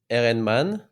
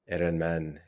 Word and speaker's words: Ehrenmann: Um, in French, I would say Ehrenmann. Ehrenmann.